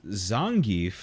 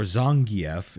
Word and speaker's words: Zangief: That's Zangief, or Zangief, if you're the fucking announcer. I've never met a single person who's pronounced it Zangief. Neither have I. It's always been Geef.